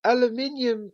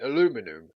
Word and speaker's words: aluminium: brought to say aluminium that's how british people say aluminium we never say aluminum